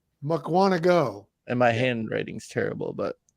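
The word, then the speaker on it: Mukwonago: Mukwanago.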